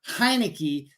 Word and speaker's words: Heinicke: Second of all, I think that money that went to Carson Wentz should have went to not only Taylor Heinicke, that's how you say his name, but they